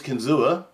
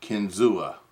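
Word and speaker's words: Kinzua: guys remember my case kenzua i think i'm saying that right i'm not sure if that's the right way to say it k-i-n-z-u-a kenzua that's how i'm saying it 35 blade made in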